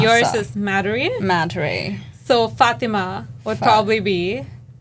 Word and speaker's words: Madhuri: Madhuri.